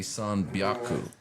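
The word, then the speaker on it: 三百: Like how you'll say the counter word, or maybe so like the word hyaku is 100. Mm-hmm. But when you get to like 300, that'd be sanbyaku.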